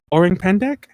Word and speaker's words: Orang Pendek: Orang Pendek. Spell it. It's another like orange, but without the E. Pendek, Pendek.